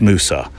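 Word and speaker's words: Mousa: think I might have said MAA well it's Musa which is a small island off the east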